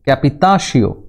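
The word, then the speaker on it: capitation: হচ্ছে তেই বা ভূমিকর ক্যাপিটেশন ফরাসি উচ্চারণ ক্যাপিটাশিয় বা উৎপাদনকর ভিচিং এমে ফরাসি উচ্চারণ ভ্যাথিয়াম বা আয়কর বা সম্পত্তিকর কর।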